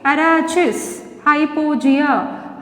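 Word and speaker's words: Arachis hypogaea: Arachis hypogea.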